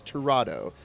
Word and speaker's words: Tirado: And I'm pronouncing that right because I asked her how to pronounce her name. It is Tirado.